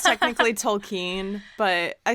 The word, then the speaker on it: Tolkien: And my experience with Tolkien. It's okay. I know I say it wrong. It's technically Tolkien, but I say it wrong.